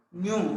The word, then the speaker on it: nu: Frequency symbol nu, like not V, nu. We have to pronounce it in the form of nu.